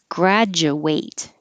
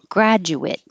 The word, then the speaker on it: graduate: like i ate yesterday graduate but if it's a noun or an adjective and it's spelled exactly the same the ate spelling will sound like it graduate so you can say